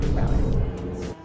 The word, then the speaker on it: ghrelin: And so to remember ghrelin, we think about the stomach growling sounds, which are very similar to the pronunciation of the word ghrelin.